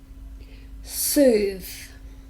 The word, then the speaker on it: soothe: victim finally a verb soothe just one syllable listen carefully soothe soothe so this is the voiced sound soothes it means